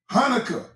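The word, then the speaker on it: Chanukah: Hanukkah is spelled with a C, but the C is not pronounced.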